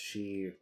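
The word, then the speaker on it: 四: well fours because um the number four in chinese is pronounced she or if i'm not mistaken and it means death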